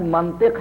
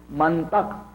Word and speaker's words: منطق: تھا کہ منطق سے لفظ منطق ہے عزیزوں، منطق نہیں ہے۔ یہ بھی عرض کر دوں، یہ محلی لہجے ہیں، بہت سے لوگ منطق توئے کے زبر کے ساتھ استعمال کرتے ہیں، یہ غلط ہے۔ منطق ہے، علم منطق